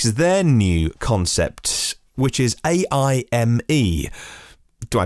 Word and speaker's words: AIME: Audi is at the event to showcase their new concept, which is AIME. Do I pronounce it AIME? AIME or AIME? AI, Artificial Intelligence, ME. As in, for me, standing out at a futuristic shape and style.